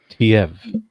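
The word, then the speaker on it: Teive: pronunciation. Yeah, Oh, okay. Tiev.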